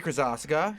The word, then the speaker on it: Krosoczka: Krosoczka, known since boyhood as JJK, or by me as Hota Hotaka.